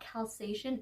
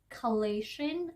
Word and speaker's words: Chalazion: But the name is not Chalazion, it is Chalazion. I got that wrong, that is my mistake. I just think my brain just thought Chalazion, but it's Chalazion.